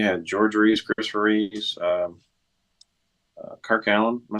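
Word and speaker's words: Kirk Alyn: You had George Reeves, Christopher Reeves, Kirk Allen. Am I saying that right? Kirk Allen.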